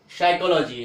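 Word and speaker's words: psychology: जैसे देखिए यहाँ पे पी है, पी के बाद क्या है, एस आया है, तो पी का साइलेंट हो जाएगा, पी का उच्चारण हम नहीं करेंगे, तो क्या बोलेंगे साइकोलॉजी, साइकोलॉजी क्या हो जाएगा, साइकोलॉजी, पर साइकोलॉजी नहीं होगा, साइकोलॉजी हो जाएगा।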